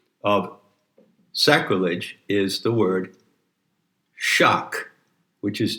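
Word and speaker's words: sak: sacrilege is the word shock which is generally spelled s a k but the s is pronounced with an h and shock is a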